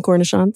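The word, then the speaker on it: cornichon: delicious I love cancer gerin I call them cornishon cornishon yes that was the word I was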